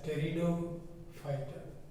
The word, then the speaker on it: Pteridophyta: and the third group, the P is silent, P you don't pronounce it, you will read it as Pteridophyta.